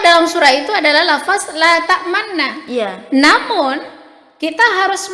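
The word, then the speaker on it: لَا تَأْمَنَّا: Nah, la ta'mauna. Jadi itu cara bacaan yang benar.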